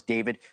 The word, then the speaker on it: D4VD: This is the case against the pop star David Anthony Burke, better known as David, spelled with a 4.